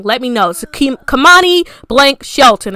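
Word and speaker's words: Kemoni: i was like kamani so it's going to be pronounced kamani is going to be spelled k-e-m-o-n-i i might have it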